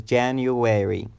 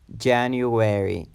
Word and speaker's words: January: the first mount is January January this word has four syllables when the stress or emphasis is on the first syllable January January there is